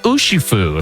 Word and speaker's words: Urshifu: Get Urshifu. So that's gonna be a lot of fun. Urshifu.